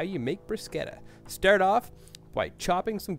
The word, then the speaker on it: bruschetta: Today I'm going to make for you some bruschetta, more commonly mispronounced as bruschetta, my wife's absolute favorite snack.